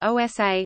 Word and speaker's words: Odisha: Adisa Odia erisa pronounced OSA listen formerly known as ERISA is one of